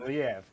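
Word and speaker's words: Liev: But Lev Shriber doing the narration again. Is that right? He is. Yes. Lev.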